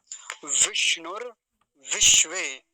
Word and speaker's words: विष्णु विश्वे: वाली बात यही है एक बार तो मूर्धन्य सकार आया है और एक बार तालव्य सकार और दोनों आधे हैं विष्णु विश्वे विष्णु विश्वे ऐसा इसका उच्चारण होगा आधे पूरे का ध्यान